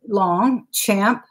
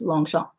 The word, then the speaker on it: Longchamp: word Oh long shot it's lomg as in long champ but the French pronunciation is long Chomp and its lomg CH a MP a lot of people say Longchamp but it's long shot yes this one's really